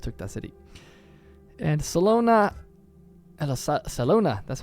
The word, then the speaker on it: Salona: very upset here but that yeah we just took that city and Salona Salona that's how you say it we're definitely going